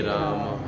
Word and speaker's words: राम: हरे ही बोलना कृष्ण कृष्ण ही बो कृष्णा नहीं कष्ण नहीं कृष्णा नहीं कृष्ण राम रामा नहीं रामो नहीं हमारे कभी कभी फॉरेनर लोग कर देते हैं लेकिन वो गलत है अभी वो उनका प्रोनाउंस